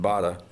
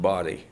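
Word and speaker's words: Baade: name laura lee b-a-a-d-e in german you'd pronounce it bada it had been anglicized body okay thank you yes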